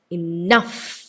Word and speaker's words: enough: For example, enough ennu varna ee word il second syllable laana primary stress varune.